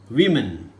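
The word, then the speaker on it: women: ഓയുടെ ഉച്ചാരണം എന്തായിട്ട് വരുന്നു? ആയിട്ട് വരുന്നു. വിമൻ. വുമൺ അല്ല, വിമൻ അല്ല, വിമൻ, വിമൻ.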